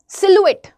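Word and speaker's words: silhouette: एक वर्ड होता है अ सिलुएट। है ना? वो भी बहुत प्यारा सा वर्ड है। सिलुएट। उसकी एक्चुअल स्पेलिंग होती है सिलहाउट करके।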